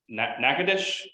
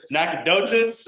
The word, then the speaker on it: Nacogdoches: have to forgive me when I pronounce nakadish is that correct um Nacogdoches okay got it all right um I